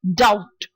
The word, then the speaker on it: doubt: money next one is doubt not duh but but its doubt and the last one